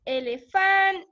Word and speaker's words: elefante: Entonces, la sílaba tónica aquí es elefante, es elefante. Es elefante, es la que suena más fuerte entre las sílabas.